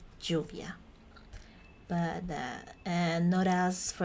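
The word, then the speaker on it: lluvia: that word for example we have the word Juvia which mean means rain and in this case the L would sound like this this word this is this letter Juvia but uh and notas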